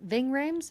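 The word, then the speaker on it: Ving Rhames: agent Kenneth Hall um played by is it Ving Rams? Is that how you pronounce it? Ving Rams.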